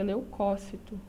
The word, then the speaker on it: leucócito: a gente for lembrar pronúncia correta leucócito esse essa antepenúltima sílaba é a tônica portanto é uma proparoxítona todas as proparoxítonas são